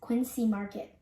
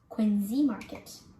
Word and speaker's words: Quincy Market: famous boston landmark you may say it as quincy market but it is actually pronounced quinzee market quincy market is a famous tour spot you